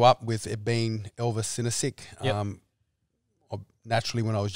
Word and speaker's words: Sinosic: Oh, no, you can literally just say Elvis Sinosic.